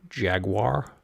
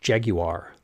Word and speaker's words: Jaguar: out of my mouth jaguar i'm told the proper pronunciation is jaguar presumably the r at the end is silent since that's a thing in british english at least in the